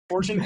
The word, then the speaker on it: Fortune 3: pronounced by the way Fortune three fortune Fortune the three is silent is that what we